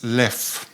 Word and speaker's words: Leffe: But I think if you want to pronounce it the Dutch way, it's Leffe, and in French it's Leffe. The Leffe monastery is in the